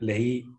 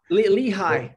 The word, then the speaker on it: Lehigh: foreign public policy in Health Institute at Lehi University I'm not sure how to pronounce Lei Lehigh Lehigh sorry uh he's got a pitched in